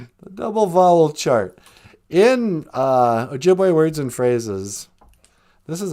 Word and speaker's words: Ojibwe: O sounds like O in go and Ojibwe. You mean Ojibwe? Yeah. I hate it when people pronounce it Ojibwe. Hey, do you like to speak Ojibwe? No. And the 2 O's is oo in food.